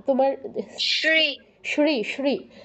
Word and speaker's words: শ্রী: না তোমার শ্রী শ্রী শ্রী আমরা বাংলায় যেমন বলি না সদা সত্য কথা বলবে তো এখানে স এর উচ্চারণটা যেমন হচ্ছে সংস্কৃত তালব্যসের উচ্চারণটা ঠিক তেমন শ্রী শ্রী বলো শ্রী শ্রী